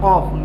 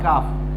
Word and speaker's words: Qaf: Dui Nukta wala Qaf, not Kaf. You have to pronounce this one Qaf.